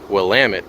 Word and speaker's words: Willamette: In my last video from Rocky Butte Park on the east side of Oregon, I pronounced the name of that river wrong. That is the Willamette River.